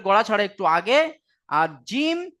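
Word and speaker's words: ج: ছাড়া একটু আগে, আর জিম শিন ইয়া এই 3টি অক্ষরের মাখরাজ হলো জিহবার মাঝখান তার বারবার উপরের তালু, জিহবার মাঝখান এবং তার বারবার উপরের তালুর সাথে লাগিয়ে উচ্চারিত হয় জিম শিন ইয়া।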